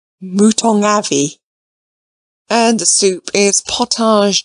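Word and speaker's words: mouton aux navets: pit monster lady crawley mouton oh nave added the butler gravely pronounced if you please mootong avi and the soup is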